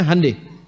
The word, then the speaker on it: Hyundai: Honda mereka bikin Handai Hyundai itu dibacanya Handai ya jadi selalu begituah